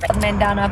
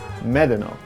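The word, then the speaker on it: Medano: but the pronunciation is medeno which is spanish for sand dunes and yes my six-year-old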